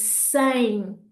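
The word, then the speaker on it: sem: And finally, the word for without is sang, sang. So hopefully by putting that ng at the end of those words, you're going to be pronouncing them correctly.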